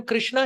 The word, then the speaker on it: कृष्ण: और कुछ लोग जप में हरे कृष्णा कृष्णा कृष्णा, कृष्णा तो द्रौपदी है, आप द्रौपदी का नाम का जाप कर रहे हैं। It should be Hare कृष्ण।